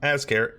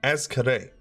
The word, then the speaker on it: Azkare: It is not Azkare, it is Azkare. I think is how it's supposed to be said.